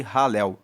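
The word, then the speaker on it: Halel: Esses salmos, mais uma vez repetindo, são salmos de ralel. Se escreve H a L e L.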